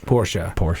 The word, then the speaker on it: Porsche: People that own them still call them that, but still, like, that's the proper pronunciation is Porsche.